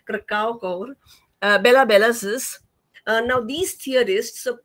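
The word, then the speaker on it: Kracauer: This was followed by Rudolf Arnheim, Siegfried Krakauer, he's often very mispronounced, Krakauer, Bela Belasis.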